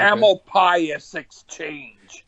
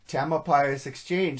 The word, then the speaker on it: Tamalpais Exchange: Tamalpais Exchange. Tamalpais Exchange.